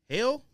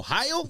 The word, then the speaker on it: Heil: Hell? No, that's not exactly how you pronounce it. Heel? Oh, Heil? Yeah, there you Oh, go.